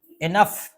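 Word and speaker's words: enough: में कुछ कुछ ठीक है इसे बोलेंगे इनफ इसे क्या बोलेंगे इनफ्याप्त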